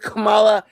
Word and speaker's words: Kamala: I was about to say, it's not as in the Kamala, comma it's Kamala. sentence. It's Kamala. Her mother's name was Shamala. Her name is Kamala.